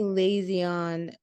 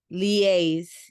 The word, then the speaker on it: liaise: When you say lazy on, I'm saying it wrong. Lays, oh, Yes. liaise.